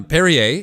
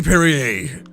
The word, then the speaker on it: Perrier: the bubbling waters uh perrier is perrier perrier however you want to say it i believe it's called perrier because it's another french one it doesn't you don't pronounce the r but whatever you want